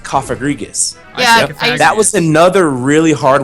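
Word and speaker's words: Cofagrigus: a Pokémon this, but I used to call it uh Kofagargus, but it's actually pronounced Kofagrigus.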